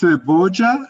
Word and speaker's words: cebolla: It's pronounced cebolla, cebolla, Yes.